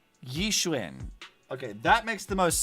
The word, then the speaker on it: Yixuan: Try traditional Yishwin. Okay, that makes the most sense to me. I can do that. I can pronounce it that way.